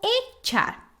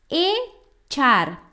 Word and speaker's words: echar: por que é importante entender o verbo echar? Primeiro, eu quero destacar a pronúncia desse verbo, tá? A gente fala echar, sim? E não echar. Então, CH em espanhol é como a palavra tchau do português, ok?